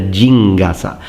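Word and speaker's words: 陣笠: But what we see in-game is a different version, and it's called a jingasa.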